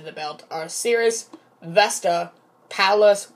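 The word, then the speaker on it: Pallas: belt are cirrus vesta palace which rhymes with one of the most famous cities in texas which some people know if you guys aren't from texas then you should know dallas but i'm not trying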